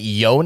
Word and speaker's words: Yone: that is yasuo's brother wait yon y you pronounced the E yeah that's how it's pronounced yep Y and uh